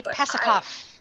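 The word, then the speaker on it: Pasachoff: stars and planets by pasichoff i might be pronouncing that wrong jay pasikov yes thank you good one yeah jay is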